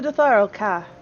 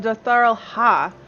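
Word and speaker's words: Dotharl Khaa: Welcome to the Dotharal Ka. The Dotharal Ha. They don't pronounce the K.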